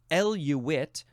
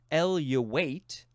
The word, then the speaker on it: eluate: The next word is eluate or eluate. It is spelled E-L-U-A-T-E, noun from 1932.